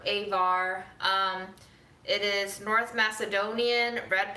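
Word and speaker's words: Ajvar: It's spelled like Advar, but it might just be Our friend called it Avar. Avar.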